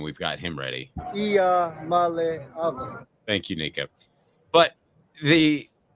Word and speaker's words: Iamaleava: by the way, we're just in case we mispronounce his name, we've got him ready. Iamaleava.